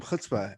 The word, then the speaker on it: chutzpah: ahead and hit that like button with some chutzpah and with that mason how you doing my